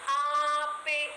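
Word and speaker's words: ape: ആപ്പെ. ആപ്പെ എന്നാൽ തേനീച്ച എന്നാണ് അർത്ഥം. അതെ, ഇത്രയും നമ്മളിപ്പോ കണ്ട വാക്കുകളിലും ആയുടെ ശബ്ദം വളരെ അടഞ്ഞതായിരുന്നു. എന്നാൽ ആപ്പെ നീട്ടിയുള്ള ആന എന്ന് ഉച്ചരിക്കണ പോലെ ആപ്പെ, തേനീച്ച.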